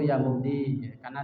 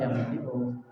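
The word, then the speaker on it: مبدئ: Ya mubdi'u ya mubdi, karena dibacanya takhfif jadi ya mubdi, padahal ya mubdi'u.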